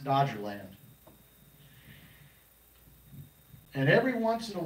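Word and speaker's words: Doggerland: It looks like it's spelled different than we would pronounce it, but it's pronounced Dodger Land.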